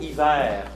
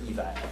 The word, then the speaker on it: hiver: Et dans le mot hiver, la saison, quelle lettre est muette? Pour Annabelle, La H. H de hiver.